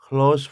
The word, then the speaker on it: close: 만약에 어떤 친한 친구 클로스 friend가요 가깝다라는 할 때는 클로스라고 읽고요.